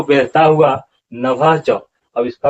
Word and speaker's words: नभश्च: और अगले कड़ी में इस छाती को बेधता हुआ नभश्च, अब इसका उच्चारण क्या होगा, नभश्च, यहाँ पर देख लीजिए